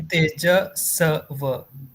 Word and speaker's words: Tejasva: Tejasva. Va. It's a Tejasva. swa sound at the end.